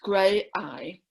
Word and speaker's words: Graeae: And it's Graeae, pronounced Graeae.